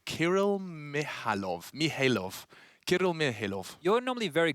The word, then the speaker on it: Kirill Mihailov: The silent K. So it's Kirill Mihailov.